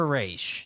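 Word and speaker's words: Ra's al Ghul: or race algol it's either Raz or a race depending I I think it's just Roz in the Dark Knight trilogy you know what rhymes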